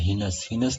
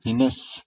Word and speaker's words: heinous: Murder is a murder is ए हीनस, यानी हेनस इसका pronunciation नहीं होता है, इसका जो प्रोनाउंसिएशन होता है हीनस, यानी murder is ए हीनस crime.